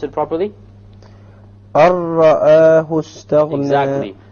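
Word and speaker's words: رَآهُ: So make sure that when you do this idgham, you don't fall into the other mistake of rolling the ra. Okay? Samir, why don't you pronounce it properly? Arra'ahu istaghna. Exactly. Arra'ahu istaghna.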